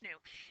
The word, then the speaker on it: nu: This is not v, this is nu, this is the Greek letter nu.